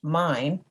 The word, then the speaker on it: MYN: hits map your neighborhood m-y-n pronounced mine is an emergency preparedness